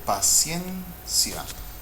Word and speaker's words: paciencia: This word here, paciencia. Paciencia. The stressed syllable is the second from the last, which means it's grave.